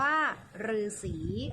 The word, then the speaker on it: ฤาษี: คำ ที่ 4 คือ คำ ว่า ฤาษี ออก เสียง หรือ หมาย ถึง นัก บวช